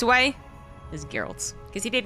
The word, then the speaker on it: Geralt: So many ways to pronounce this, but the only correct way is Geralt.